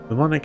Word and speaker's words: mnemonic: Mnemonic has a silent M at the beginning. No, it doesn't. I'm quite sure it's pronounced mnemonic.